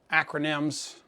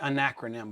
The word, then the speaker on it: acronym: one of my favorite acronyms I always want to say anacronym but it's acronym I don't know why my tongue always wants to add another syllable in there but my favorite acronym